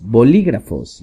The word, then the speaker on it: bolígrafos: la tapa de los bolígrafos. Y aquí tenemos otra palabra para decir lapicera, es bolígrafo, B-O-L-I, acento en la I, G-R-A-F-O-S, bolígrafos.